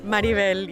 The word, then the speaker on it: Maribel: We have here this beautiful face, Maribel. Pronounce it right? Maribel, yes.